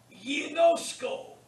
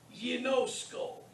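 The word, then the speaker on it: γινώσκω: Ginosko. Notice the gamma followed by the iota is pronounced ye. It's soft. Ginosko.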